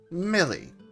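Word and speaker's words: Milly: As said, it is still pronounced Millie.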